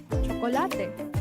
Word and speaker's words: chocolate: stared yeah he said I even know the Spanish word for that cholate same spelling different pronunciation the next morning Jason